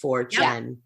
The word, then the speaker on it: 4chan: 4chan for c-h-a-n c-h-a-n-4 chen like channel but short right 4chan okay so they started